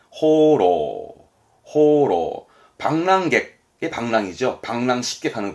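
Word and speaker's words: 放浪: 발음은 호로.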